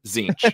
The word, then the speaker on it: Tzeentch: the the number um the g is silent in zinch and not even seen it's in the it's in the word zinch you just never see it and it changes position